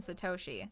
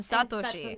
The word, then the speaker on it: Satoshi: So specifically the two names that I do not pronounce correctly in the videos are Satoko and Satoshi. They should be Those Satoko were hard. and Satoshi. Satoshi.